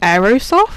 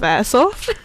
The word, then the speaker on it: Airsoft: It was like the Facebook group chat just saying, is she saying Aerosoft instead of Airsoft?